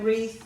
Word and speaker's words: wreath: long e sound here wreath you've got a long e sound here and you've also got a silent w on the start of wreath don't forget that e